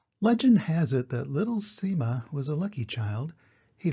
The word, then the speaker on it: Sima: is spelled s-i-m-a and is pronounced differently in different languages such as Sema Shima simma and Sima for our story today